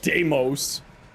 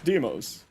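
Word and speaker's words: Deimos: I mean, do also makes sense, but no, it's Deeos. It's not Deamos. It's Deeos.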